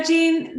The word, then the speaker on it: Jean: thank you so much so gene is correct is how my